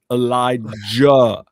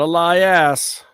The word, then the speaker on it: Elijah: Say it right. Elijah. Not Elias. We don't know an Elias. That's an Elijah.